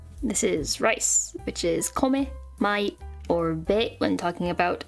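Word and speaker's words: 米: we have oops this is rice which is kome my Orbit when talking about America because for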